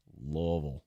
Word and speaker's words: Louisville: the a play in Louisville Louisville that's how they say it blame them not me mhm Louisville Louisville uh